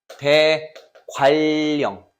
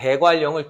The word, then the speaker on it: 대관령: 니은과 리을이 만났잖아. 그러니까 그럼 이거 우리가 발음할 때 어떻게 해야 돼? 대관령 이렇게 소리가 나요. 즉 유음화가 일어난다는 얘기야. 이해가 가?